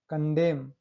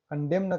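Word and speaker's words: condemn: देखिए कॉलम, एम के बाद एन आया है यहाँ पे, कॉलमन कहाँ पढ़ने से, only कॉलम, autumn, haem, कंडेम, कंडेम न कहाँ पढ़ रहे हैं उसको, एम के बाद एन आए हैं, ठीक।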